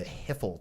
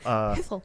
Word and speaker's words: hiphil: you have like the hiphil tense and like all sorts of the hiphil. Hiphil. You got to say it like that.